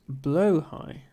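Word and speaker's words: Blåhaj: of a word uh in Swedish Blaha is pronounced blo High okay um who is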